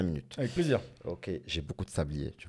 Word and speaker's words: Au: Alors, je m'appelle O, ça s'écrit AU.